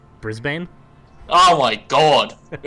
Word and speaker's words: Brisbane: Say, how do you pronounce Brisbane? Brisbane? Oh, my God. Brisbane.